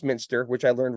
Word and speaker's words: Muenster: spelled m NS t r uh although it's pronounced Minster which I learned right before right before our